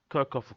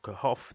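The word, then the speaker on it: Kirchhoff: we need to understand kirkoff first and second law now quicker first of all if we just do a quick recap so karakov of kahf depending how you want to pronounce it uh the first law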